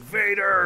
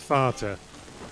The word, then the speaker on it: Vater: Oh, because they didn't want everyone to be like, Vader! Vader? No, because it's pronounced Vater.